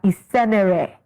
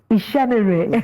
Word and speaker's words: Isenere: Joining us now to unpack all these and more is Adesua Isenere. I pronounce well? Ishenere. Okay, I would have expected H in the middle.